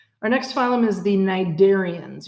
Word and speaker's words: cnidarians: next phylum is the nidarians you don't pronounce the sea it's cnidarians and that's all of